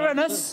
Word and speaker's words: Uranus: We begin the year with a conjunction of Jupiter, that's my rather large planet and Uranus, careful how you pronounce it. Uranus!